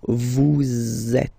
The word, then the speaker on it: vous êtes: So in that case, vous is ending with S, and then you tend to make a little link between them. So vous êtes. Z, it goes like that.